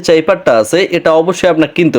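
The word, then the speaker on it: cipher: আমাকে কমেন্ট করেছিল যে এটা নাকি চিপার না, এটাকে ক্যাপচার বলে। তো ভাই আপনি একটু গুগলে গিয়ে ট্রান্সলেশন করে দেখেন যে এটার মূল উচ্চারণটা হবে কিন্তু চাইপার বা চিপার। আপনি এখানে কোনোভাবে ক্যাপচার বলতে পারেন না।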